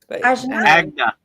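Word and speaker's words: Ajna: I always pronounce the third eye wrong. Agna.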